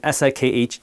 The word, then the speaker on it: Sikh: In my culture, my religion, the Sikh religion, S-I-K-H, yes, it's pronounced Sikh, not Sikh, there's a fundamental tenet, a concept called seva, which means selfless service.